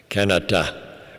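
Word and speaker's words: Kanata: it is pronounced canet like the name of the city outside of Ottawa there they've named it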